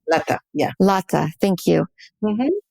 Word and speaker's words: Lata: You talk about with Lati Mani, is that how you say her name? Lata, yeah.